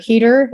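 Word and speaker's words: Heder: Heater, is that how you say his name?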